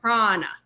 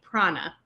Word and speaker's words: Prana: if you know um the clothing brand Prana you notice they make the a in the middle a capital A and they make it a capital A because it's meant to be a long a sometimes you'll see a long a written with a capital Prana but again notice this is a retroflex n so the tongue should be behind the teeth Prana um you may